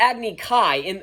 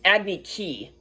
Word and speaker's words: Agni Kai: But what do they pronounce it? They pronounce it Agni Ki.